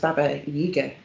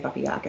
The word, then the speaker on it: Baba Yaga: i'll be talking about i think it's pronounced baba yoga actually but i'm probably going to say bubba yaga because it's easier um but one of